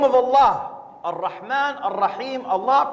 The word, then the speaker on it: Allah: Allah on man Rahim Allah pronounce a double el exhale with love Allah the creator of the